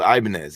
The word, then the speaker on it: Ibanez: So, I'm a guitarist and there's a guitar brand and it's called Ibanez and that's how you pronounce it.